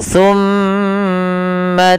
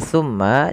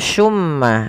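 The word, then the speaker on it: ثم: sini ada huruf tsa teman-teman hati-hati di dalam melafalkan tu jangan sampai kita membacanya dengan Sin dengan pakai su gitu ya pakai tmma karena kalau kita merubah dan menggantinya maka maknanya berubah hati-hati juga jangan sampai terdengar dengan baca Summa Summa dengan syin ya Akan tetapi itu adalah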